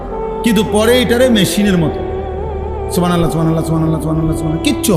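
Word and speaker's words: سبحان الله: পরে এটারে মেশিনের মতো সুবহানাল্লাহ সুবহানাল্লাহ সুবহানাল্লাহ সুবহানাল্লাহ সুবহানাল্লাহ, কিচ্ছু হয় না। এটা হা উচ্চারণ না হলে তো তাসবিহ হয় নাই। শেষের গোল হাটা সাকিন করতে হবে এবং প্রত্যেকবারই নিঃশ্বাস ফেলতে হবে।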